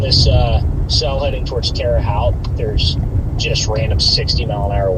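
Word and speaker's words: Terre Haute: Terra Terraout. That's how you say it. Yeah, Freddy. This cell is going straight for Terraout. only because it's driving the inter Midwestern and crazy in me. It's terote by the way.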